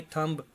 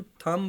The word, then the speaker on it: thumb: हैं मोस्टली लोग, THUMB, थंब। तो उसको, उसमें भी बी जो है ना वो साइलेंट रह जाता है, उसको हम थम बोलते हैं, अकेला थम।